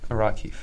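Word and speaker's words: Rakhiv: Is it like Rakiv? I think it Wait. Is this it? Yeah, probably that. How do you say that? Rakiv.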